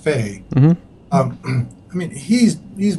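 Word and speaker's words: Fahy: one scientist kind of Greg fade FHFA hy but is pronounced fade mm-hmm I mean he's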